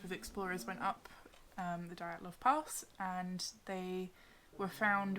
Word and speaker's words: Dyatlov: How would you pronounce that? The Dyatlov Pass incident.